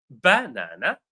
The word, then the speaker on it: banana: So the word banana is pronounced banana or banana with no stress.